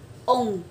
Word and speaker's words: on: mũi như thế này, ví dụ là on đọc là ông, ông, nó nghe nó giống như là ông bà trong tiếng Việt ấy, thế nhưng mà nó phải là giữ hơi từ trong bụng đẩy lên, ông, và cảm giác đi